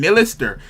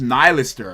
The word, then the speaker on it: Nihilister: to an elister nylister I keep saying millister um because I'm so used to that name now but it's pronounced nylister I don't like that